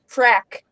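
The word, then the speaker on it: frak: And they say frag, but it sounds like crap. frack. Yeah, they'll say frack, but if you look up the word, it's spelled frag, but for some reason, but anyways, they say frack.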